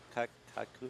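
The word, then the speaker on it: Käyhkö: Kaukuku.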